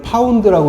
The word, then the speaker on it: lb: 올리고 그 압력은 15lb lb는 파운드라고 읽으시면 돼요 15파운드에 압력으로 시간은 15에서